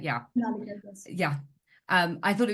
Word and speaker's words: Shonaleeka: That I'm sorry if I mispronounced your name. It's Shonaleeka, right? Yeah. Shonaleeka, yes.